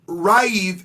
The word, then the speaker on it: Raif: Did you just say Raif? I said, well, yeah, because that's how his name is actually pronounced. Oh, y'all, Raif is someone that I have been working with since June.